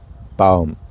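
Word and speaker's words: Baum: in German we have also male and female but we also have a third one the neutral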